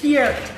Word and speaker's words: Peart: Yes, Peart. And I yard one people that can pronounce it correctly.